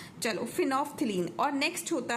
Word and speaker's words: फिनोफ्थलीन: क्या नाम है, फिनोफ्थलीन. तो यहाँ पे एल साइलेंट होता है और इसको फ, है ना. चलो फिनोफ्थलीन.